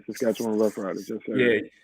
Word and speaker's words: Saskatchewan: How do you pronounce their first name? Saskatchewan Rough Riders.